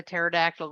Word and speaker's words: pterodactyl: Why can't you hear a pterodactyl go to the bathroom? Yep. Why? Yep. Because Because their P is silent.